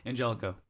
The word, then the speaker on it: ANGLICO: You pronounced it correctly. Yeah. So. Angelico.